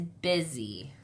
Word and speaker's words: busy: But this is not the long U sound. Not busy or boozy. It is busy. That's why, since it's kind of actually it's more like a short I sound, you would think that